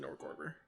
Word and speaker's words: Norgorber: I pronounce it Norgorber. Whatever. Norberger.